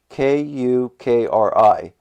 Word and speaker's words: Kukri: I went to Knife Center, because that was the next website up, and it says, I might pronounce this wrong also, Kukri. It's Kukri.